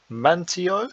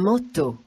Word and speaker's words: manteau: We might look at this and say, it says mantio, but here the EAU is an O sound, and the AN is an O, so you get un manteau.